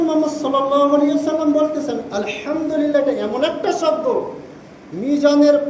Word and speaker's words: আলহামদুলিল্লাহ: আমরা প্রতিনিয়ত আলহামদুলিল্লাহ শব্দ উল্লেখ করি, কিন্তু আমরা উচ্চারণ সঠিক না করলে আমাদের পরিণতি কি হবে? হা মিম দাল, আরবিতে দুইটা হা আছে, একটা হচ্ছে হায়ে হাওয়াজ বলা হয়, আর একটা হায়ে কুত্তি বলা হয়।